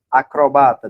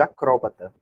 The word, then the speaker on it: acrobata: têm mesmo duas pronúncias por exemplo acrobata do circo né ele pode ser chamado de acróbata esquisito autópsia e autopsia